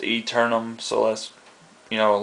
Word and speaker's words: Aeternum: of it has a before it but it's pronounced eternum verified this with the uh developer Brooks bishop and he told me it's pronounced eternum so that's you know a little play on